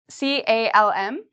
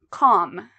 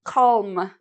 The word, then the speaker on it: calm: not pronounce l well we don't pronounce l after a o or U so after these vowels